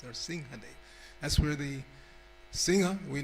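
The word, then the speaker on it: Nṛsiṁhadeva: The Anuswara, the M with the dot over it, is pronounced like an NG. That's why we say Nrsimhadev. We don't say Nrsimhadev. It's Nrsimhadev.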